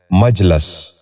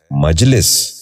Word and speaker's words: مجلس: غور سے سنیے، مثبت۔ چھٹا لفظ ہے مجلس۔ یہ غلط تلفظ ہے، درست تلفظ ہے مجلس۔ دوبارہ سنیے، مجلس۔ بچوں آپ بھی غور سے سنیے، مجلس۔ ساتواں لفظ ہے محتسب۔